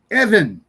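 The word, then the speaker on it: אבן: When it doesn't have the dot in the middle, it's pronounced with a V sound, but they would spell it with a B. So, it it's just weird. Anyway, Evan is a stone.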